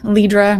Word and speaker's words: Lidra: Lidra rhymes with Libra, if you miss that.